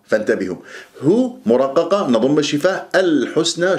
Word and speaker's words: الحسنى: هو مرققة نضم الشفاه، الحسنى شوف اللام قمرية ليش؟ لأن جاء بعدها حرف متحرك، الحاء مضمومة، وابغي حجك شوف الحروف القمرية، حجك الحسنى تسحب ضم، وطبعا اللام القمرية يجري فيها صوت فترة زمنية بسيطة، الحاء مضمومة السين ساكنة، لا تقول الحس الحس، نطقت السين سحبت ضمة الحاء وما خلصت الحركات، فلا بد أن تخلص الحركات،